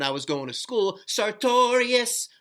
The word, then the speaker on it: sartorius: was going to school, sartorius. You remember Duran Duran with the song Notorious? We used to say it like that with the sartorius muscle and grab the muscle and go, sartorius.